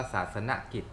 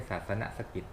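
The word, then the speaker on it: ศาสนกิจ: อย่าง น้อย 1.5 เมตร ออก เสียง ว่า ศาสน กิจ ไม่ ใช่ ศาสน สะกิด ศาสน กิจ โอเค โอเค โอเค ถาม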